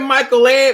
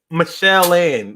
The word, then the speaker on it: Michael Ann: Go ahead, Michael Ann. Or I guess it's Michelle Ann. But it's spelled Michael Ann. So Michelle Ann.